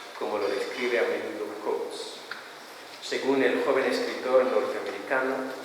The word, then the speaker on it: Coates: muy reciente de Ta-Nehisi Coates, o sea, se pronuncia Coates, pero se escribe Coates, ¿no?